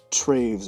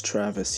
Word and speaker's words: Travis: club noah hugbox and traves or travs or however you pronounce it it's travis you dummy they talked for about